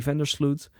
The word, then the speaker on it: Vandersloot: The Vandersloot. The emphasis on Vander, but it's actually here we would say Van der Sloot.